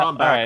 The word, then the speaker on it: Brombacher: You know that my last name, Yeah, Brombacher, alright. also rhymes with Packer, and people in Insane.